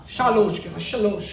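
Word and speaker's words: שלוש: ஷாலோஷ் කියන එක තමයි පැරණி உச்சாரணை.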